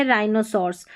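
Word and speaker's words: rhinoceros: जैसे देखिए RH, rhyme, rhythm, और यह राइनोसॉर्स, यहाँ पर क्या है, H साइलेंट है। जब भी RH साथ में आए, RH साथ में आए तो H हमारा साइलेंट रहता है।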